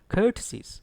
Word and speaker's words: courtesies: Certain students pronounce it as courtesies. Actually, it is courtesies. Stress is on COUR. Courtesies. And R is not pronounced.